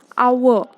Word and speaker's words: hour: For example, when you say ox, an ox, hour, H is silent there, so it is an hour, an heir, an honest man, etc.